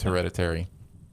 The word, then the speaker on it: hereditary: Anyways, it's not heredity though. It's hereditary.